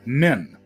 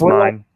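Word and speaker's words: Myne: As if fate was listening to her prayer, she wakes up reincarnated as Min, or Mine. You guys have watched the show. You probably know how it's pronounced. It's pronounced Mine.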